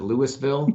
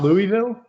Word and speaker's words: Louisville: Okay, so in Colorado, we pronounce it like Americans, and we pronounce it Louisville, Colorado. It's not Louisville? See, everybody outside of Kentucky usually calls it Louisville.